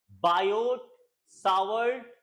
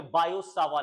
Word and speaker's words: Biot–Savart: Actually में इसका pronunciation है बायो सावा लॉ, बायो सावा लॉ, बट हम लोग इंडियंस बोलते हैं बायोट सावर्ट लॉ। मतलब सुनने में कैसा लग रहा है, बायोट सावर्ट लॉ, नहीं, बायोट सावर्ट लॉ नहीं, बायो सावा लॉ, ये ऐसे बोला जाता है, इसका सही प्रोनाउंसिएशन यही है।